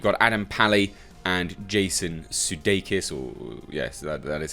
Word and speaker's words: Sudeikis: key actors you've got Adam pally and Jason Sudeikis or yes that is how you pronounce that name both of them are the